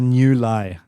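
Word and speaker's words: Niu Lai: It's a new lie. So it's two words. N I U new and then L A I lie.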